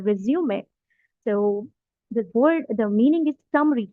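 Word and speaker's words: résumé: तो रिज्यूमे basically इसका इसका जो मीनिंग है वो इट्स a French word, we pronounce it एज अ रिज्यूमे।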